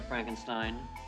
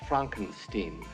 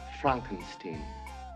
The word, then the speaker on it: Frankenstein: have one question Dr Frankenstein that's Frankenstein I beg your pardon my name it's pronounced Frankenstein but aren't you the